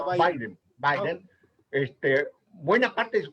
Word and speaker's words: Biden: Bueno, así se escribe Biden, pero se pronuncia Biden.